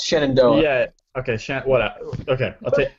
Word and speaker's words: Shenandoah: I lived in Virginia for a while. It's Shenandoah.